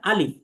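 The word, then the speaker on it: ألف: আলিফ আলিফ আলিফ আলিফ, কোনো টান হবে না, বলতে হবে আলিফ আলিফ আলিফ আলিফ আলিফ। তার মানে 1 নাম্বার হচ্ছে কোনো টান নেই। 2 নাম্বার বিষয় হচ্ছে এর উচ্চারণ পাতলা, অর্থাৎ মুখ স্বাভাবিক রেখে বলতে হবে, অর্থাৎ যাকে আমরা বলি বারিক।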